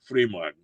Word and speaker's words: Frühmorgen: Frühmorgen. That's the proper way to say it.